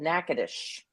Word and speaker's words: Natchitoches: called Natchitoches. Oh, that's how you pronounce it.